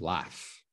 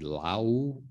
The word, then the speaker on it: laugh: lot of people say lao lau or lauk or lao or something it is laugh so this is the the sound that you want to make it's an f sound l a f okay